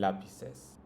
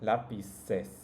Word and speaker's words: lápices: This as you might have noticed, only changes the spelling, the writing, but both of them sound the same.